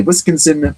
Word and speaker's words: Wisconsin: a toilet in a family restroom at a Wisconsin public library. By the way, the pronunciation there, Wisconsin.